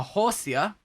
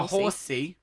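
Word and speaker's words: Horsea: pikachu oh my gosh a horsia horsey it's pronounced a horsey no flatulence i mean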